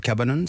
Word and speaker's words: Cabanon: très connu en angleterre il le prononce d'ailleurs cabane ce qui est assez